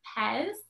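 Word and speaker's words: Pes: animation by one of my favorite animators named pez that's spelled p-e-s and if you want to look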